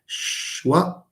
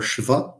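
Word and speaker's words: schwa: or under the title, Shwa or Shva, because these are, two pronunciations for the word.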